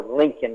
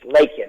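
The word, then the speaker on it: Laken: her name you know he called her Lincoln Riley Mr President Lincoln Riley is a coach USC with it's lak Riley and he pronounced her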